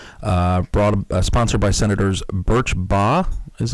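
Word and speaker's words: Birch Bayh: cannot be sued uh brought sponsored by Senators bur B is how you say it of Indiana I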